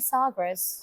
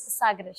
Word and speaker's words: Sagres: The closest is actually Sagres. Okay. I said that in a very English way. Sagres. How do you say in Portuguese? Sagres. Sagres. Sagres.